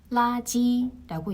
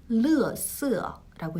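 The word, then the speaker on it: 垃圾: 중국 대륙식 발음은 라지라고 얘기를 합니다. 그리고 대만에서는 르쓰라고 얘기를 해요.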